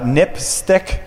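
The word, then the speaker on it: NPSTC: Public Safety Telecommunications Commission which is pronounced nip stick which is kind of a odd acronym name 730 it definitely sounds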